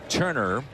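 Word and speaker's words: Toerner: right no no matter what happens that's Justin Turner spelled t o e n r but pronounced Turner and he was a 28th round selection in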